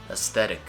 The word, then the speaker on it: aesthetic: a tricky combo there it's an s right sound followed by a th and it seems and